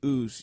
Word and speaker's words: Usos: The Uso spell their name like USO. Uso. Mm. They have a shirt out that says, when I say oos, you say oh, but they spell it